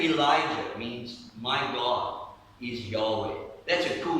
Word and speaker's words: Yahweh: Yahweh is the sacred, personal name of God.